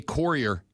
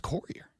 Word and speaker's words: courier: The word is pronounced courier. No, it's not. It is. There's a U in it.